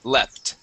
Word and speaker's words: leapt: This would have a short E sound. Okay, when we go to past tense, and this is leapt.